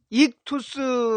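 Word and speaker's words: ἰχθύς: 말입니다 물고기 라는 단어에 고대 그리스어 는 이 투수 라고 쓰며 이렇게 이투 수 라고 발음을 합니다 단순 에 모이는 물고기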